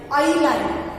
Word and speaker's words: island: The word I-S-L-A-N-D is pronounced as island. How it is pronounced? Island, not Island, Island. It is island, where we don't pronounce yes. We do not produce the sound of yes here. So, it is read as island. What it is read? It is read as an island.